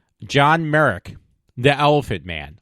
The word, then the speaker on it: Merrick: hear me correctly John Merrick The Elephant Man I did say mer not Merit but mer don't ask me to